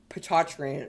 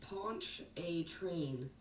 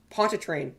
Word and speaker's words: Pontchartrain: get the pronunciation right it's ponchatrine ponchatrine yeah posha train okay that's right okay cause like i i've always avoided say the lake name during the storm surge forecast because i cannot pronounce it and i don't want to get like embarrassed by louisiana civilians potatran no no no oh my gosh um like punch a train pontchartrain there we go there you go i'm